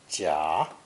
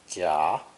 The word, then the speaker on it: 甲: This character is pronounced third tone, 甲, 甲, and is used much